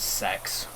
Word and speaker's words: CEX: It's actually pronounced as sex, but I refuse to call it like that.